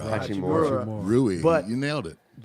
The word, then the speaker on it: Hachimura: You know, they've got that inside-out combination down low with Brandon Clark and how do you pronounce that? Yeah. Rui Right, right. Hachimura. Hachimura.